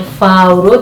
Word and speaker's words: Fauro: In fact, because we don't have L and we have Paul, we say Fauro.